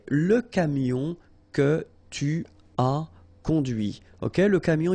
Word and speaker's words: conduit: And that's when you hear the difference between conduit, because remember, final T is not pronounced, conduit, here, and then the feminine, conduite.